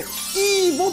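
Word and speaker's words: Evo: 寄っていただきますこれイーボって読むんですけどインテルのめちゃくちゃ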